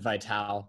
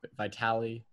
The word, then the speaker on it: Vitale: I said Vitale, like Dick Vitale. Vitale.